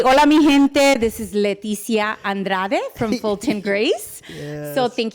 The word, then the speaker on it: Andrade: I always say hola migente this is Leticia Andrade from Fulton Grace so thank you for having